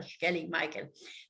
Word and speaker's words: Skellig Michael: And, you know, when the Irish people are pronouncing their S's, like in Sláinte, even, it's a sh sound, so it's Skellig Rock or Skellig Michael.